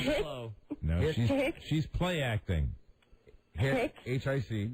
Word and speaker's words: hic: You would say, hic est ridiculus locus. You're going to have to do that phonetically for us. We're very slow. No, she's play acting. Hic.